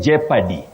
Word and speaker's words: jeopardy: Now, Agnes Njeri of Karatina, you say jeopardy. Betty, this is a very tricky word. The O is silent.